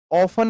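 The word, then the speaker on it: often: ऑफन इसे pronounce करते हैं। ऑफन ओ एफ इ एन। इसमें जो टी होता है, यह साइलेंट होता है।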